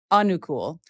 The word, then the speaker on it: Anukul: Anukul? Anukul. Hm. Emphasis on the first syllable.